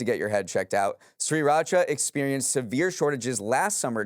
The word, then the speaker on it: Sriracha: One, because Neal keeps pronouncing my product as Sriracha instead of Sriracha.